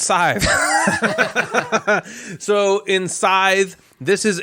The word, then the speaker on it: Scythe: My number 5 rhymes with 5, and it's Scythe.